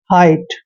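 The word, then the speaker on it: height: Next है HIGHT, एच का उच्चारण हमेशा है करते हैं और IGHT को आइट पढ़ते हैं, हाइट।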